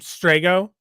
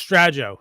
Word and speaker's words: Strago: And you can have those obstinate people who be like, "It's Strajo." No, it's not a soft G. It's not a J. It's a hard G. It's strago.